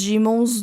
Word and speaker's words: daemon: Em português, eu lembro nos livros, estava escrito Daemon, e no inglês eles pronunciam Demon, mas como eu li o livro em português, eu falo Daemon, porque é assim que se fala em português, eu acho.